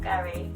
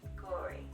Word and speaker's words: Gauri: So my name is Gauri, not Gauri, not Gauri, not Gary, despite how it's spelled. Yes, I get called also. Just Gauri.